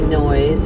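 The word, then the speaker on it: Noyes: So, this is actually noise. It's spelled N O Y E S.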